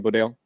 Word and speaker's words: Bodayle: Is that how you pronounce the last name, Bodayle?